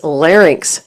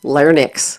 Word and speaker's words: larynx: The correct pronunciation is larynx, not larynx.